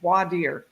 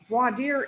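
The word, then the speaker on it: voir dire: a profer and a voadier and it's spelled v o i r d i r e and um from the French war c dear say so and a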